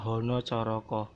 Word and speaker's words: Hanacaraka: Tapi dibaca Hono Coroko karena ini ejaan Jawa. A bisa dibaca A bisa dibaca O.